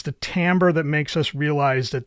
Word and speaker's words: timbre: pronounce this word but it is not Timber that's pronounced Timbre Timbre refers to the